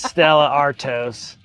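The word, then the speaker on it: Stella Artois: Yeah, it's Stella Artos.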